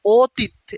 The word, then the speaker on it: অতীত: যেমন অতীত, এটা কিন্তু অয়ের উচ্চারণটা কিন্তু হয় না, অতীত, ইত উচ্চারণ হয়েছে কিন্তু ত উচ্চারণ কিন্তু হয় না। মানে ত যে লাস্টের অটাও উজ্জ আছে, এই জন্য একটা হসন্ত দিতে হয়, অতীত।